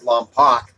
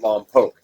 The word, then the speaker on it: Lompoc: If you ever see Lompoc, you might pronounce it Lompoc, but those that live there, my cousins, pronounce it Lompoc.